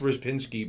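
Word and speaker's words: Rzepczynski: they have James Pazos as a quality mic rizz Pinsky it's it's pronounced RIS Pinsky but it's spelled with Z's and C's my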